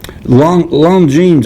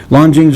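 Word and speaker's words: Longines: long time i'm sorry long long jeans i think is where you pronounce that l-o-n-g-i-n-e-s lon jing's watch is a gift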